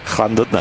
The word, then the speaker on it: Llandudno: I've had it in there's one in Llandudno, and it's Did you just say that proper then? yeah, Say that again. Llandudno.